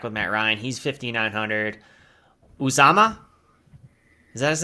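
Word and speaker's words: Uzomah: Uzama, Is that his name? Yeah, CJ Uzama.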